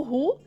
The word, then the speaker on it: who: Lembra que o who é o R de carro e como se fosse um U ali no final.